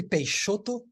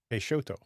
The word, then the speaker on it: Peixoto: Peixoto. Yeah. All right. I apologize for butchering your last name. Don't worry. X in Portuguese, they have like 3 different pronunciations. It can be sh, z, or x, so you're fine.